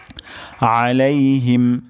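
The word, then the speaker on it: عليهم: মাগদুবি তারপর শব্দটি হলো আলাইহিম আলাইহিম আইন গলার মাঝখান থেকে উচ্চারণ হবে আলাইহিম এবং শেষ শব্দটি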